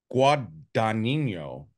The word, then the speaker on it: Guadagnino: I don't even know how to pronounce his name. Let me look at it. Luca Guadagnino.